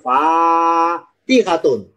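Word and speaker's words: فَاتِحَة: Tapi kalau fanya panjang fatihatun artinya pembuka.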